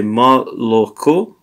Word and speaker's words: молоко: Because this is pronounced as an something between an O and an A. So mala, ma, it's a ma, yeah, ma la, ma, ma la ko. This is more like an A.